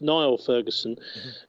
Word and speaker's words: Niall Ferguson: Yeah, he's pronounced Niall Ferguson.